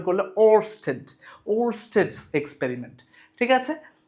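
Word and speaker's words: Ørsted: ওয়েস্টেড একটু সুন্দর করে উচ্চারণ করলে ওস্টেড।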